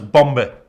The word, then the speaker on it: Bombe: Also, with the word bomb, I struggle because the B is silent, right? The second B. But in German it's Bombe, where the second B is not silent at all. So it's hard for me to pronounce it bomb and not bombe, bombe.